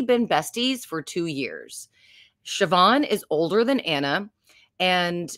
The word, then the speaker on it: Siobhan: about is Siobhan Walsh it's uh spelled like Sayo Bond but you enunciate it Siobhan and her name is